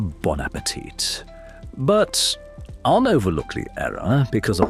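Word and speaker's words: bon appétit: Yeah, bone appetite. You ungrateful It's pronounced a bonapetit, but unoverlookly error because of better.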